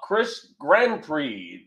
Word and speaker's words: Chris Grandprix: Up next, from the Kavanaugh Council, Chris Grandprix, 1988. Chris, did I pronounce that properly? You got it right, Vic.